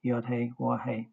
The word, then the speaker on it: Yahweh: In his answer to the high priest, our Messiah fulfilled his previous commitment by quoting King David's words and pronouncing our Creator's name, Yahweh.